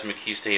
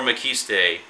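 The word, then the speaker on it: Maciste: And I say Mckiste, but throughout the Mckiste movies, it's actually pronounced Mckist or Mckiste, depending which one you're watching.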